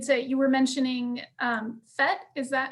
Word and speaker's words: PhET: students uh related to you were mentioning um phet is that how you say it yes okay